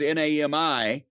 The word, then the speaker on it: NAMI: It's NAMI like mommy, except in mommy is spelled M-O-M-M-Y, whereas this is N-A-M-I.